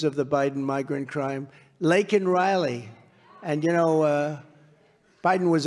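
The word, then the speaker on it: Laken Riley: many innocent victims of the Biden migrant crime, Lake and Riley. And you know, Biden was unable to pronounce her name, called her Lincoln Riley.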